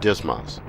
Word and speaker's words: DSMS: system or DSM s often pronounced dis mas will conduct this lesson